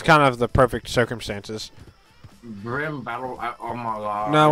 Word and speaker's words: BRM: seven people Al so why are you calling it brim that's not the name that's that's just spelling out the acronym we're pronouncing the acronym sorry and to anybody who